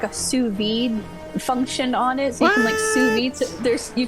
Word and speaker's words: sous vide: It's pronounced sous vide.